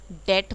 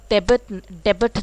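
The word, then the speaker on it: debt: commerce के बच्चे हैं कर्ज को हम डेट बोलते हैं और डेबिट नहीं बोलता है जो मोस्टली लोग पन्ना उस करते हैं भी साइलेंट रहेगा ही यह जरूर ध्यान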